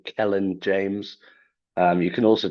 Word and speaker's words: Kelain: Uh just type in the name Kellen James.